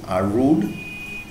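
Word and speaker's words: rued: R-U-E-D is actually rude. Is pronounced as R-O-O-D, rude.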